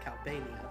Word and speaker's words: Calbania: it's pronounced Calbania, but whatever.